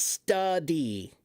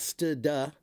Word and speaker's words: study: That's study. There's no It's not st-duh. It's study. Okay?